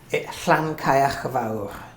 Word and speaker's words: Llancaiach Fawr: So how do you pronounce? Llancaiach Fawr.